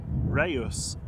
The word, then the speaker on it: Reus: Chat GPT says Reyes, the city in Spain, is pronounced Ryus with emphasis on the it's two syllables, stress on the first syllable, rehy dash os.